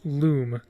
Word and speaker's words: Lum: trivia section of the lum page love is pronounced loom oh okay so a loom then i'd uh because like in the word illumination um however there's no